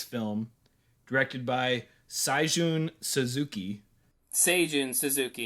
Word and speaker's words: Seijun Suzuki: Seijun Suzuki is the pronunciation.